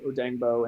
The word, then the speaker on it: Odeyingbo: They had the phonetic pronunciation in the Hooked on Phoenix. They had that in his like little draft bio. Okay. So it's right, Odengbo.